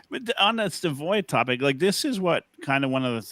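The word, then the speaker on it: Savoie: Savoy, I think, is actually technically the right way to say it.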